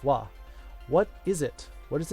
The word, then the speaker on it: は: It's the letter ha, but it's pronounced wa.